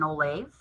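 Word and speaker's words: ollamh: Uh, and so when someone has reached the highest level within their field, they're known as an oolave. Um, it kind of sounds like the word olive, but it's spelled with an a, olavves.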